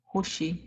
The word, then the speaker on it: hushi: word we have is spelled with the U pronounced with a u sound hyi and the reason